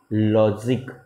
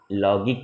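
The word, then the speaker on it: logic: लॉजिक, लॉजिक, लॉगिक नहीं बोलते, लॉजिक। This is the rule number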